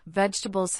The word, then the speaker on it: vegetables: For example, vegetables has three syllables.